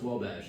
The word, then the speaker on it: Wabash: My worst one is Uwabiche, which was a French attempt by English people to write down the French pronunciation Wabash. And as far as I know, the state park has given up on telling people, no, it's just pronounced Wabash.